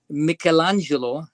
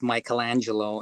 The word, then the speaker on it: Michelangelo: Michelangelo is the Italian pronunciation. We call it Michelangelo in the US.